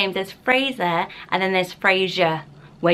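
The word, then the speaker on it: Frazer: spelling is another way then it's Fraser as in razor and it might be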